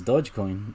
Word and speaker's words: Dogecoin: Look, you don't even pronounce it correctly, bro. It's Dogecoin. Dogecoin.